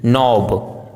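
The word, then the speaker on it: knob: यदि किसी वर्ड में के एन साथ में हो तो के का उच्चारण साइलेंट होता है जैसे नी नोब नाइफ नो नाइट ड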